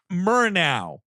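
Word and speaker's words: Murnau: at home uh fw murr now directed nosferatu that's what we're doing yeah it's pronounced like murtaugh i mean was that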